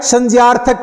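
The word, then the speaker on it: संज्ञक: ण पढ़ा क्या आपने तो उसको हमने बोलि के हिसाब से तो संज्ञा बोलते हैं परंतु शुद्ध इसका उच्चारण है संजक क्रिया कौन सी क्रिया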